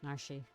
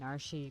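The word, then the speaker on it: Narshe: yeah i know i i quite like the name narshi personally like that's how i've always pronounced it as a kid i guess it's uh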